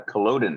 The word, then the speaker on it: Culloden: we're we visit uh Culloden is that the correct way of pronouncing that yep on the morning